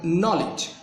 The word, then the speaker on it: knowledge: তো এই অক্ষরের উপর আপনি স্ট্রেসটা দিবেন। নলেজ, নলেজ। লিজের উপর দিবেন না, এই নয়ের উপর দিবেন।